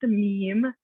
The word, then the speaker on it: meme: so what is a meme let's start the very the basic and it's pronounced meme is not me me it's just meme um and and here